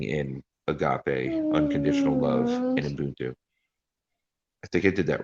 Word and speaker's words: Ubuntu: together and living in agape, unconditional love, and Ubuntu.